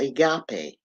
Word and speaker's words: agape: of Love is called agape and they spell it a or aape a g a p e right a g a p e all right but you pronounce it Agape all right now this